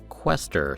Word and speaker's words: Quaestor: Now, I double-checked that pronunciation. Quester seems to be the consensus. Quester. But then again, you can never tell with fantasy words or with British words.